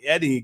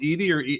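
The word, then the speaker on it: Edey: see my boy Zach Eddie going in the draft oh man thanks for the content dudes okay I don't know Zach is it Edie or Eddie it's easy you can pronounce it either way he's seven foot five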